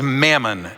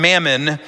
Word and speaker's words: mammon: he's using an aramaic word the word is mammon m-a-m-m-o-n that's how we spell it mammon and a lot has been said